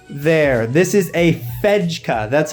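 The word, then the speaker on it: Fejka: got to be right there this is a fedka that's how you pronounce it it is a veg cup from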